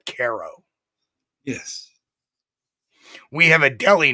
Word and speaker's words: Cairo: different we have a spelled like Cairo New York but we all call it Caro yes we have a